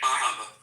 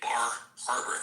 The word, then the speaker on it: Bar Harbor: It sounds like here. Bar Harbor. No R in Bar Harbor.